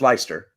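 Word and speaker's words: Leicester: that what it is leester leer I think it's leer yeah but yes but then possibly Lester no it's ler Lester l e i c s t r should be pronounced ler can you guys say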